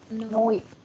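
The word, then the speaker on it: neu: Noi. Noi. Betul. Noi. EU dibacanya OI.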